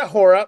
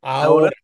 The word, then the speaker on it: Ahora: It's not Ahora because I know you guys pronounce the Right. H, but we it's silent. Ahora, Ahora TV.